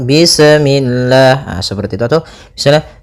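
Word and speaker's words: بسم الله: Pada bacaan bis ini, sempurnakan huruf sinnya. Ketika sinnya sukun, ini ada sifat saofir. Dia harus kita alirkan nafasnya. Bis. Nah, seperti itu sempurna baru baca mi. Bismi. Bismi. Usahakan jangan sampai memantul.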